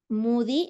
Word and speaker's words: Modi: A ver, nos platicas quién es Moody, aunque se escribe Modi, ¿verdad?